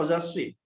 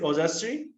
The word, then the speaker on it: Ojaswi: यस, ओजास्वी, मैं क्या आपका नाम ठीक से प्रोनाउंस कर रहा हूँ, ओजास्वी, is it Ojaswi, right?